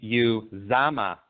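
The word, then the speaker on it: Uzomah: Cincinnati tight end CJ and how do you pronounce his last name properly that's going to be you Zama cj's mom CJ use Dom okay perfect I'm glad I got this right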